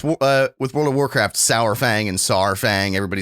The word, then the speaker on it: Saurfang: of like with World of Warcraft, Sourfang and Saurfang. Everybody says that differently. It's like it's that AU baby. It's gotta be Saurfang, right? Saurfang. I feel like I call him Sourfang though.